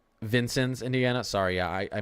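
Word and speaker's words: Vincennes: news watch a stream that's covering this it's pronounced Vincent Indiana sorry yeah I I mispronounced a lot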